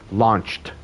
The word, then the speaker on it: launched: This ch sound at the end of verbs, and if it's regular and I put an ED, the ED will have a T sound. Launch, launched, launched.